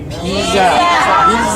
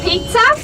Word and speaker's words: Pisa: We are going to Pisa. Pisa. And not pizza.